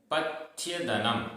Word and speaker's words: पथ्यदनम: किम किम पथ्यदनम, पथ्यदनम आधा था य, पथ्यदनम धर्मः, धर्मः कह